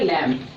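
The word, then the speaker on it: lamb: तो देखो एम के बाद बी आया है तो यहां बी का उच्चारण नहीं होगा। इसलिए इसको यहीं तक पढ़ रहे हैं लैंप।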